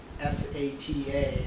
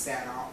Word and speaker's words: SATA: of transferring data and it's actually not pronounced um s-a-t-a it's actually pronounced Santa or Serial ATA next one is SSD